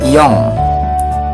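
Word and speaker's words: よん: Kemudian yang keempat ya, atau angka 4 itu yong. Nah ini N tapi dibacanya eng ya, yong.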